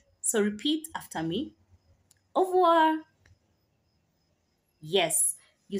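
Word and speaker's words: au revoir: say goodbye okay so in goodbye you say avoir so repeat after me of War yes you said it right as well you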